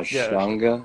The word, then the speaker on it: Ashtanga: But yeah, you're talking about the Ashtanga yoga. Am I saying it right? Yeah, Ashtanga. I think so. They say it all kinds of weird fucking ways, but yes.